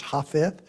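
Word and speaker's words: Jafet: Pray for Pastor Felix, for Glenia Hafeth, their son, like Japheth in the Bible, but J is silent in the Spanish language, so that's Hafeth.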